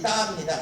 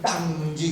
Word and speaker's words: 따: 그 다음에 거기 DA라는 말이 따입니다. 하늘천 따지지 요즘 모르는 사람들은 하늘천 땅지 그래. 땅이 아니야. 그래서 근미정 표기를 밑에다가 동그라미 그냥 동그라미만 하면 발음하지 않는다 뜻으로 해석했지만은 사실은 그걸 땅이 아니라 따라고 합니다.